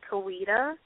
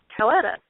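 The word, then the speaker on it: Coweta: It's Kawita and it's spelled like cowetta. And so I'm like, Ketta. And they're like, no, it's Kawita.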